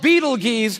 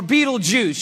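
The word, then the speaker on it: Betelgeuse: heard about this star it's called Beetle geese or Beetle Juice you can pick your pronunciation I'm obviously going with Beetle Juice and Beetle Juice is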